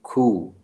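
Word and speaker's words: coup: Result of a military खू। ये इसमें पी साइलेंट होता है, ये भी खू है।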